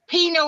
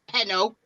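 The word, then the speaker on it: pinot: to exactly diana he's bringing presents joe ma pino is spelled p-i-n-o-t not penno uh jules is put my laugh this week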